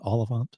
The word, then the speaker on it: Olyphant: Oliphant. Timothy Oliphant.